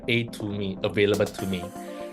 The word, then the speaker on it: Atome: it really means right so atomy actually means a to me right and what does a stands for it